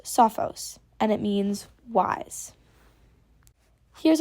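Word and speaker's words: σοφός: word try to pronounce it by yourself it's pronounced Sophos and it means wise here's our next example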